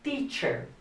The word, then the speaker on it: teacher: I am a teacher.